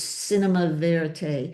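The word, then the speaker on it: cinéma vérité: This started out, they call it cinema verite. Am I pronouncing it correct? There was another new word I learned. Besides being now a protagonist, it was cinema verite. Yes.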